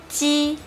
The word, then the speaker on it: j: The difference between ji and xi is that, as you can see, there is an extra symbol t here. It means that to pronounce this ji sound, you need to block the air in your mouth first.